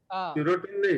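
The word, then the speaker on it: serotonin: सीरोटिन जो depression के लिए सेरोटोनिन। केमिकल है। सीरोटिन नहीं, सेरोटोनिन।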